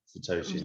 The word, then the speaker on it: satoshi: million bitcoin created one bitcoin is 100 million satoshi yeah yeah i hope i pronounce right that's correct yeah satoshi i my question was right away when i